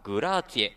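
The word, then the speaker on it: grazie: 木下翔太皆さんおなじみグラッチェヒーローちなみに正式な発音はグラーツィエだそうです 4 対 2 武島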